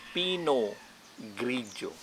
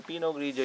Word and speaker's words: Pinot Grigio: the fourth one it's pinot grigio all right the pino you will see that they have a letter t at the last end but you don't need to pronounce it and pronounciation is pinolan and then the gridio